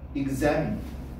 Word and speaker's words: examine: 근데 액센트는 A이지. examine, examine 이렇게 발음하셔야 돼.